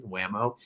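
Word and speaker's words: Whameaux: and wamo uh and it's spelled w-h-a-m-e-a-u-x like he's French or something whamo um and they're just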